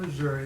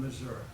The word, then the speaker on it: Missouri: They're not from Missouri, they're from Missouri.